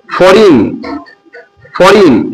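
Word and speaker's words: foreign: যখন জি এর পরে এন আসে তখন জি সাইলেন্ট থাকে। যেমন ফরিন এখানে জিটা পড়া যাবে না। এই কারণে যে জি এর পর এন এসেছে।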